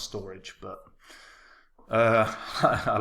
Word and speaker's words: Storj: channel guys so Storage storage meant to be pronounced storage but uh I like